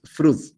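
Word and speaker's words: Froude: fraude que nos decía no se dice fraude ese es el apellido hasta donde yo sé de un señor alemán que es fruit fraude se escribe pero en hidráulica uno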